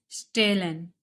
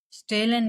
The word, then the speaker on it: stehlen: Else pronunciation of S will be Sha. Stehlen. Stehlen means to steal.